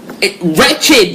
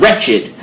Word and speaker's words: Wretched: Besides pronouncing our name wrong. Wretched, guys.